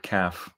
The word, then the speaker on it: calf: it very interesting that the word calf has that silent l in there and this is something that